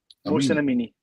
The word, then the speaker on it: Mohsen Amini: Mohsen Amini.